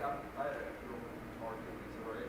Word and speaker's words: Missouri: Like I had a real target, Missouri, is the way to pronounce it.